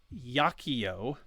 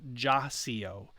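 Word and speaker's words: iacio: here below and then the j is always the y as in yet so the word here at the bottom is yakiyo not jacio uh and what's important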